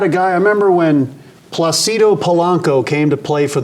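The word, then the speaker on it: Plácido: pronounce his name and he said Placido okay then he told Domingo yeah like Placido Domingo and then Dan Baker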